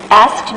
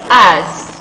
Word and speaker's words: asked: Asked me a profound question. Okay, so that is asked. Okay, asked. Not asked, but asked. So that's the way native speaker pronounce that word.